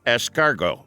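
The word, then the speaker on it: S-Cargo: up with the moniker escargot nissan opted to employ this unusual play on words pronounced like the french term escargot which means snail in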